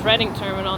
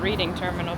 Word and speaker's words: Reading Terminal: In Reading Terminal, if you're local to Philly or have ever been to Reading Terminal, which is Reading Terminal, not Reading Terminal, by the way.